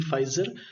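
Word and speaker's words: Pfizer: तो वो जो इंजेक्ट है उस वैक्सीन का नाम आपको याद रखना होगा, आपका पी फाइजर, पी इसमें साइलेंट होता है, फाइजर जो है बायो एनटेक वैक्सीन इसको इनको लगी है।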